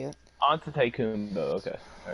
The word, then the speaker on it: Antetokounmpo: Antetokounmpo is how you say it. Antetokounmpo.